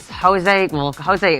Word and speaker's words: Jose: Is that how I pronounce it, Al? Yeah, Jose. that's it.